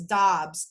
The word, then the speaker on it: Doubs: And there is a park I think you pronounce this Dobbs, D-O-U-B-S, Yes, Dobbs Park.